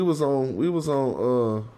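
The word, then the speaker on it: wꜥ: And it's pronounced wa. Very similar to one.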